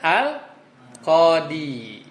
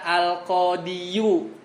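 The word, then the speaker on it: القاضي: Bisa nggak dibaca al-qadiyu? Bisa nggak? Kalau Indonesia bisa, tapi kalau orang Arab berat. Jadi kalau dia habis kasroh, habis itu dia monyong, ya dia domah, itu di lisan orang-orang Arab berat.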